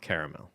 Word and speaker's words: caramel: Caramel. Caramel. Caramel. Okay, so is it 2 syllables, caramel? No. Is it 3 syllables, caramel? Yes. Or used interchangeably? No, we use the absolutely not. 3 syllables. Yeah.